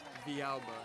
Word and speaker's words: Villalba: Villalba is how you say it.